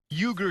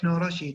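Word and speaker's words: Uğur Şahin: UGUR SAHIN (PRONOUNCED OOH-GER ZAW- HEEN) AND HIS WIFE DR OZLEM TURECI (OZ-LEM TOO-RETSI) CO-FOUNDED BIONTECH AND DEVELOPED THE VACCINE. (PRONOUNCED BION-TECH) UGUR SAHIN, CO- BIONTECH THIS NEW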